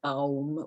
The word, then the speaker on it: aum: And, just take slow, deep breaths and really pronounce the ah or as three separate, the A, the U, and the M as three separate syllables, which is aum, which is the feminine of om.